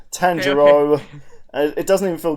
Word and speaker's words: Tanjiro: But yes, it's Tangero.